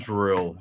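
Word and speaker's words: Anduril: positive world yeah and andil is how they pronounce it um this guy looks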